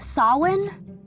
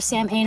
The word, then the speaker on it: Samhain: I near actually says it's pronounced saw one maybe it is correctly saw one that I hear Sam pain a lot to which I guess maybe it's the incorrect pronunciation whatever the case this